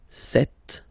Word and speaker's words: cette: So you can notice that phonetically these two are pronounced the same way.